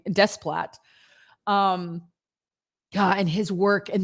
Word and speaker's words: Desplat: How do you say his name? I don't know how to say his name. Desplat.